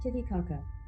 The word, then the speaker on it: Titicaca: how this is actually pronounced pronunciation how do you say it let me hear the audio hey like Titicaca okay I was right I was right to